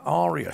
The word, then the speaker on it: Arya: Maisie Williams there as our ass up matter pronounces it Araya Arya Stark is star coughing please forgive me I